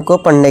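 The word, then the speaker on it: cup: यू हमारा क्या sound देगा? आ की। जैसे देखिए दोस्तों इधर सी यू पी कप यानी प्याला।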